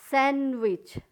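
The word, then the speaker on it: sandwich: सैंडविच, सैंडविच, D silent है, सैंडविच।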